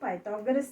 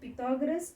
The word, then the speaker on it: Pythagoras: But in your departmental store, do you apply Pythagoras theorem or Newton's law of gravity? Here children, this can be said Pythagoras or Pythagoras. It's a proper noun. It can be pronounced either way.